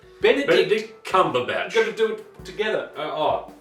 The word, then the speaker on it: Benedict Cumberbatch: Bumbledick Cucumber Patch. Butterscotch Comfortable Pants. Now we're going to turn to camera and say it right. Say his name right. Okay. Great. 1, 2, 3. Benedict Cumberbatch.